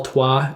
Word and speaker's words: Troyes: you're that's how it's if you don't know how to spell tua it's spelled troy's but it's called tua and also tourne and